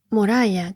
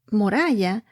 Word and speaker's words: Moriah: Moriah, creo que lo estoy pronunciando en inglés, pero se escribe M-O-R y latina A-H.